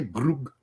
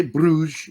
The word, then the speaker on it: Bruges: what region you're from you might say it a little differently so quit picking on pete he said it right enough he doesn't need to say brook he can say bruges it's fine it's a lot of the english commentators say bruges too and for christ's sake